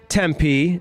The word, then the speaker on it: Tempe: I went to Tempe.